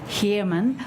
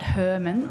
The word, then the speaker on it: Herman: We've all been saying Moran, and my name is Herman, not Herman, which I'm often called.